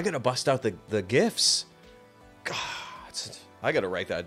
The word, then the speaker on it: GIF: gifts God Almighty it's almost time for the gifts gifts and Gifts you know no one's no one in the world knowing the world is going to tell me that it's pronounced Jiff be a Skippy jar before I open up